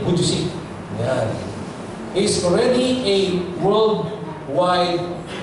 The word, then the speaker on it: Vujicic: Kuntit na maging Vujicic. Ang pronunciation na yun, Nick Vujicic.